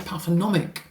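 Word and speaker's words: pathognomonic: So it can't it's not pathonomic. Pathonomic remember that silent G uh to addiction behaviors.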